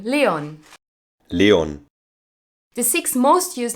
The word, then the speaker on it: Leon: a German native speaker says the name Leon Leon the sixth most used name in Germany for